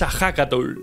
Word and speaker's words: Ehécatl: En la lengua náhuatl, el viento se escribe como Hecatl. Sin embargo, su pronunciación es Ahakatl.